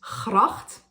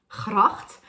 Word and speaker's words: gracht: As far as the Hebrew goes, at least being from the Netherlands, I grew up with speaking the ch sound. The Dutch word for canal is gracht, gracht.